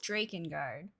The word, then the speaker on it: Drakengard: say that is it Dragon guard Drake and guard he says Drake and guard because it's Drake right like a dragon um we're watching the